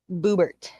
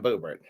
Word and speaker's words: Boebert: Boobert. Yep. Lauren Boobert. Yeah, is that how you pronounce it? I No. was I just wanna say boob. yeah, yeah, she is quite she's quite something. That's Lauren Boebert.